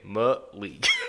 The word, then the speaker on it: Malik: It also tells you how to pronounce his name, Malik.